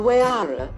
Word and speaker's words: Huayra: Named after the Incan god of winds, the Huayra, pronounced Huayra, boasts an AM-sourced 6.0-liter V12 with 2 turbochargers, resulting in 620 HP and a massive 740 pounds-feet.